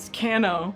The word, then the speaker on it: Kano: And it's Kano. Kano. It's spelled Kano.